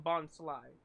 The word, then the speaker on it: Bonsly: I call him Bonsly because it rhymes with bonsai, a type of tree.